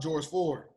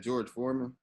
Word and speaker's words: George Floyd: Then we talking about George Floyd. Another And y'all one. see me pronounce his name wrong. You know I got pronunciation problems. You said George Foreman.